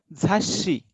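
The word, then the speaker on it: 雑誌: झाशी. Like kitte. We have to pronounce the next letter of su double.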